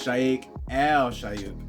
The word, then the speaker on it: Sheikh Al Shuyukh: between the shayek and Nash and uh it's shake al-shayuk and it's deluxe edition and I can understand